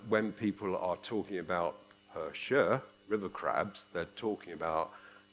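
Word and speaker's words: 和谐: So instead of talking about harmony, which is pronounced her shia, they started talking about her shia.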